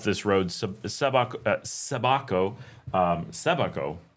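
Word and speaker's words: Sébaco: Um, Sabako. It's hard to get the accent right. There's an accent on the E. I always want to say Sabako, but the A does not have the accent.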